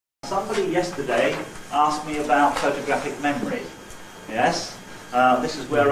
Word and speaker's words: photographic: And instead of saying photographic memory, we say photographic memory.